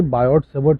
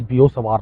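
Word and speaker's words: Biot–Savart: Actual में ये बायोट सेवर्ट wrong pronunciation है, इट्स बियो सवार लॉ, बियो सवार। तो बेसिकली ये जो है वो जो टी है वो साइलेंट टाइप के, साइलेंट नहीं बोल सकते एग्जैक्टली, बट एक्चुअली क्या होता है ना कि ये कुछ दूसरी लैंग्वेज के नेम्स हैं।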